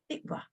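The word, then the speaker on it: תקווה: So it's T-I-Q, become tick, tick, tikva, tikva.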